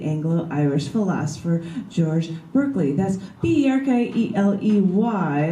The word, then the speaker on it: Berkeley: That's B-E-R-K-E-L-E-Y, like you're barking, Berkeley, you're barking up the wrong tree.